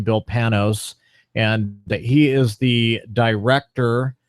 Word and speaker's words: Panos: His name is Bill Panos, which I figured out that is the proper name, how to pronounce his name, Bill Panos.